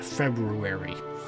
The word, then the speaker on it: February: Anyways, kind of like February. Yeah, how many of us actually take the time to make sure we pronounce that first R when we say the word, eh?